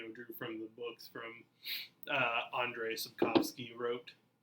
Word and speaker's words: Andrzej Sapkowski: Andrzej Sapkowski.